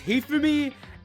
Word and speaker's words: Hifumi: I keep mispronouncing. It's Hifumi and Ishimaru.